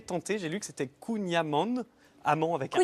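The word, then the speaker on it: Kouign-amann: J'ai lu que c'était Kunyaman. Amand avec un N à la Kunyaman. fin. Ah ouais. Voilà, donc pardon si je me suis trompé auprès de nos amis bretons. toujours J'ai du juste voulu Kunyaman.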